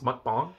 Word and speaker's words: mukbang: Now today, it's not gonna be like a mukbang where I sit and talk. It's mukbang. That's how you pronounce that shit.